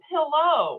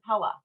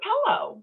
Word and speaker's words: Pello: He said, Mom, you're saying it wrong. It's a pillow. And I'm like, no, it's a Pella. It's a Pella. And I was like, wait a second. It is a pillow.